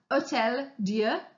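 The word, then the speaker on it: Hôtel-Dieu: The picture you can see here is of a hospital in Paris called the Hotel, sorry, let me pronounce that better, Hotel Dieu, Dieu meaning God.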